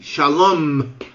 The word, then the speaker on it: Shalom: ela tem é pronunciada por exemplo Shalom você tem que falar o m Shalom porque se você não falar Shalom eles não vão entender tá bom então marca